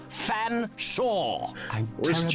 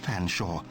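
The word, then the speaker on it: Featherstonehaugh: name it's perfectly simple f silent e a silent t silent h silent e silent r s silent t silent o n swap the n and the s silent e h a u g h fan shaw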